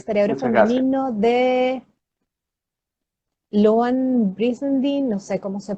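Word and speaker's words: Louann Brizendine: femenino de Loan Brizendine, no sé cómo se pronuncia eso. Luan Brizendine.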